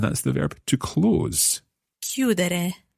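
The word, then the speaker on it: chiudere: the verb to close q that it's quite tricky to spell this verb i always think c c-h-i-u-d-e-r-e so again the stress they're happening on the the stem cue that let's put our endings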